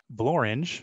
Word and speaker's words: Blorenge: We often hear that there is nothing that rhymes with the word orange, but there are actually two words that do. So blorange, which according to Wikipedia, is a prominent mountain